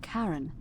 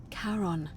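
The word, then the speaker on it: Charon: The name you heard wasn't Karen. It was C H. I knew it. O N. As in Karon, the fairyman of the dead.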